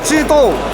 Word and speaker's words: Zhidou: La marca se llama ZED o ZD, no sabemos muy bien, y en chino se dice Chito.